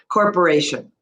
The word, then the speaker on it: corporation: As soon as you stress on the Asians, it creates a flow of conversation between us.